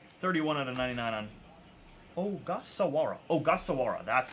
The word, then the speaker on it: Ogasawara: Shinosuke Ogasawara. Ogasawara. Shinosuke. Cool one there. Darb. Don't know too much about this guy. Can somebody give me the lowdown on this guy? 31 out of 99 on Ogasawara.